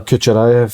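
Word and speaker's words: Kukharevych: Kucherayev.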